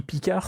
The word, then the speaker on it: Picard: la seule qui dit Picard sans prononcer le D à la fin qui le dit à la française c'est la seule qui se dire picar c'est peut-être parce qu'elle